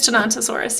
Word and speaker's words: Tenontosaurus: it's more like a, I think it's Tenontosaurus is how you say it. I should know this. I did make the prompt list. However, okay, yeah, it is Tenontosaurus, yeah.